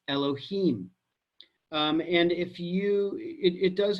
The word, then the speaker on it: Elohim: to the fact that it is written as you Dave Ave and sometimes it is pronounced as Elohim you must know that